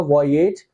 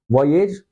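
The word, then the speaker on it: voyage: ये हो जाएगा वॉयेज, वॉयेज या फिर वॉयाज। ठीक है, इसे हम लोग वॉयेज भी बोलते हैं बट एक्चुअल में जो प्रोनाउंसिएशन होता है वो वॉयाज होता है।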